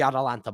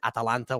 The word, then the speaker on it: Atalanta: now you're doing the adalanta model that's a weird way I pronounced it Atalanta whatever I'll pronounce it like a douchebag properly Atalanta but but that's their